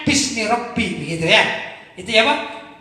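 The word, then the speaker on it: بِسْمِ رَبِّ: menggunakan lafdzul jalalah Allah, maka dia ditulis aslinya itu bi ismi Rabbi, gitu. Bi ismi Rabbi. Tapi bacanya bismi Rabbi, begitu ya.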